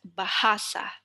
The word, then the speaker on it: bahasa: So the penultimate syllable is the middle one. So you would want to say it as bahasa.